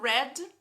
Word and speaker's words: read: No passado, red, particípio red, é como se fosse a cor. Mesma pronúncia, grafias diferentes.